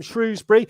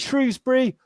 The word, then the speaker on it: Shrewsbury: from the awesome shrewsbury is it shrewsbury or shrewsbury rose they all say depends what side of the river you were born on is the um the english pronunciation and just my mum and dad called it shrewsbury so it's just it's frozen awesome right say that most people say shrewsbury because so every year